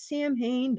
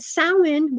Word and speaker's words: Samhain: the thinnest on Samhain, which people pronounce Samhain. That's wrong. But Samhain, which is the witch's New Year's, October 31st.